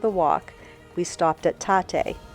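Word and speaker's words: Tatte: We stopped at Tate. I didn't know how to say it, but on the cup it says like latte.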